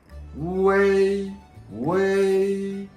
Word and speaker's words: ㄨㄟ: Way is like a way. Your voice is from way.